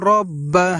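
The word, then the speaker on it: رَبَّ: পড়ব ফাল ইয়া বুদু রব্বা রব্বা। প্রিয় দর্শক, অনেকে আমরা এই জায়গায় ভুলবশত পড়ে থাকি রাব্বা রাব্বা বলে থাকি, কিন্তু এখানে আমাদেরকে বলতে হবে রব্বা রব্বা।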